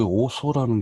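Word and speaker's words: Ortho: 자, 그 다음에 여기 오소라는 게 있어요. 오소. 번데기 발음. 오소.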